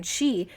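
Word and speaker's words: sidhe: on tell you that these Irish Spelling's are absolutely not pronounced how they are spelled so cat is both cat but it's caught and then she SH á e the pronunciation she is spelled s idh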